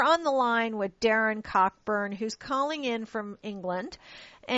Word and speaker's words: Cockburn: The website, well, my name's pronounced Cockburn. I didn't want to mention that up front and interrupt things, but it's Cockburn, but it's spelled Cockburn. So it's Cockburn.